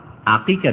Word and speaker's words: আকিকা: দুই দুইটি করে দুম্বা আকিকা দিয়েছেন আমার দেশের অনেক মূরক্ষ মানুষ আকিদা বলে আকিদা নাম উচ্চারণ করতে পারে না আমল করা তো দূরের